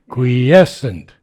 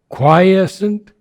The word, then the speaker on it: quiescent: Quiescent. Quiescent. So qui is on the first syllable, quies is on the second syllable.